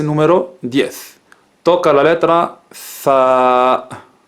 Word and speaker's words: ث: La Tha que tenemos en España, en algunas regiones de España, pronunciamos la Tha, la Z.